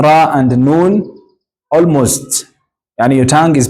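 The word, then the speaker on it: نون: have what we call noon this one noon noon you place your tongue at this soft part of your teeth up the upper teeth then we have what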